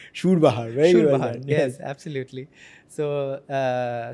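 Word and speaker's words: surbahar: Pronounced Shurbah perfectly. Not Surbah. He said Shurbah very yes absolutely.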